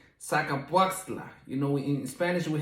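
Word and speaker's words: Zacapoaxtla: it in english but uh the the correct pronunciation is called saca puasla you know in spanish we have some really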